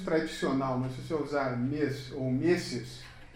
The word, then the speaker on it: Ms: A partir dos anos 70, se criou o pronome Miss, que é MS, se pronuncia como se fosse um Z, Miss, que é tido como